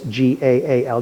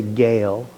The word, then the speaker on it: Gaal: So when you see this G-A-A-L, don't say Gale, like we might say. Whenever you see two vowels in a Hebrew word, you pronounce each vowel separately. That's why it's Baal, even though we want to say Baal. It's Baal. Here, it's not Gale, it's Gaal.